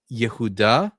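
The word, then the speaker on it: יהודה: So in Hebrew, it's pronounced Yehuda.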